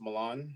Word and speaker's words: Milan: yes very good yeah my name is Milan uh just like the city uh pronounce it the same way um I am originally